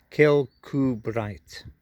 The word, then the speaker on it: Kirkcudbright: to give me for the pronunciation of this place kill coo bright but i'll put it